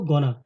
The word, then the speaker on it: gonna: गोइंग टू is equal to गोना, गोइंग टू को short form में गोना कहते हैं.